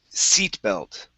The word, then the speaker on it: seat belt: Um, next up is seat belt. Okay. So, this is going to be an e sound instead of set. Set belt. Seat. Seat belt.